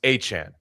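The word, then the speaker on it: Etienne: Did you hear that uh Travis ETN has a different pronunciation for his name? Now, yes, it's Travis Achan.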